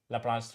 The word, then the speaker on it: Laplace: going to study is all in this one laplace transform all right uh so once you we